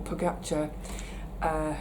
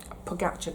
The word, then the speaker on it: Pogačar: But then the tactics can go out of the window when Vingegaard or Pogačar decide to just put their foot down.